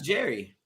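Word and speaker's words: Jheri: time it wasn't like jerry curl like tom and jerry it's j-h-e-r-i yes yeah the the h is silent like like jerry from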